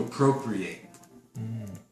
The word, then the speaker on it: appropriate: not abrupt appropriate um but when you use it here as a verb it becomes a long a to appropriate to appropriate means to set